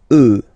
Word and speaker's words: œufs: Then, un œuf, des œufs. Okay, and we'll make the liaison here to make it sound more beautiful.